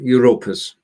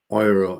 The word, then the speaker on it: Europas: It takes a bit of effort to make sure you pronounce it in German.